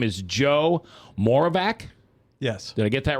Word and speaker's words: Moravec: as a radio guy, I spell it MORE-OF-VACK. Isn't that, Frank? That's how we do it, right? Moravec. Like more of that, more of this.